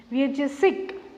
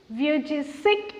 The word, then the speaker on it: Vujicic: Listen to the pronunciation of his name. Nick is quite common. Vujicic. Vujicic is the pronunciation.